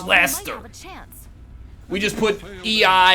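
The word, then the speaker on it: Leicester: of the world don't even know how to pronounce it it's Laster we just put a I in it instead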